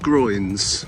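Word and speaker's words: groyne: They're called groins. Um, spelled differently. They're not the same, not spelled the same as the uh part of your body that's at the top of your legs. Uh, these are spelled G R O Y N E. Groin or groins.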